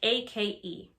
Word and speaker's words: ache: backache stomachache headache toothache ache like ake in this sentence the ch sounds like if someone you know